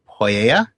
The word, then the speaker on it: mythopoeia: The second part, though, which we pronounce pia, actually in Greek would have been pronounced something more like poieia.